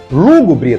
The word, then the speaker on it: lúgubre: receber o assento gráfico lúgubre também é uma palavra proparoxítona lúgubre e por isso ela deve receber assento gráfico agora cuidado com o